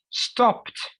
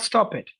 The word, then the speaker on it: stopped: Visited, loved, not love it, loved, enjoyed, not enjoy it, studied, not study it. You don't pronounce it that much. Studied, stopped, stopped, stopped, not stop it.